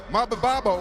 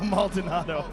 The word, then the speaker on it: Maldonado: who's pretty much just known because Rampage couldn't pronounce his name at one time. But Maldonado, how you say his name? Fabio Maldonado.